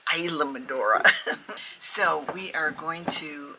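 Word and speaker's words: Islamorada: madora they're going to Isam madora I was saying it wrong I was calling it Islam madora it's not Islam madora it's Isam madora so we are going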